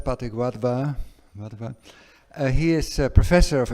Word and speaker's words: Pathik Wadhwa: So, I'd like to introduce Pathik Wadhwa, and I know I'm not pronouncing his name correctly, but it's, you say it as you spell it, Pathik Wadhwa.